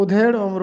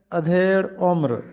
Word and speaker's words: ادھیڑ عمر: لفظ ہے ادھیڑ عمر۔ ہم اس کو ادھیڑ عمر پڑھتے ہیں، جبکہ اس کا درست تلفظ ہے ادھیڑ عمر۔ ادھیڑ عمر جس کی